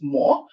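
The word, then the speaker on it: 無: how to pronounce this, more, which is the Japanese pronunciation, which is otherwise in Chinese wu, which means without.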